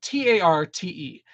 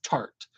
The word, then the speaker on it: Tarte: to say, so like the brand Tarte is spelled T A R T E. Everybody knows that it's Tarte. Everybody says Tarte. But then when those little palettes would come out and they were the tardist pro, tartist, but people keep